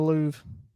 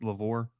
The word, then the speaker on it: Louvre: Hang it in the Louvre. You know how many people think that it's pronounced Lavore?